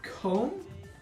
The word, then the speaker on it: comb: Um so the reason why I need to explain this is because B is silent after M in between morphine batteries. So for example uh comb silent bomb silent